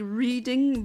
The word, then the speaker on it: Reading: My brain is just severely disliking the fact that it's spelled like reading but pronounced like reading.